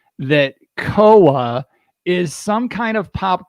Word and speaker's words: COA: Koa. I'm going to get it out of the way. It's spelled C-O-A.